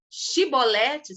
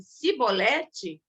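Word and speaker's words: Chibolete: E cada vez que uma pessoa era constrangida, né, a falar Shibolete, se ele falasse Sibolete, ele era morto, porque é uma palavra de difícil articulação.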